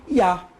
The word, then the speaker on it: Yah: sílaba Então esse re ele representa o som de a por isso que tem a pronúncia de Iá Yudi Y A ya Acabou ou você pode colocar Yudi a vogal a e o h e a Tá certo porque como o h ele é mudo ele é mudo na pronúncia porém ele tem a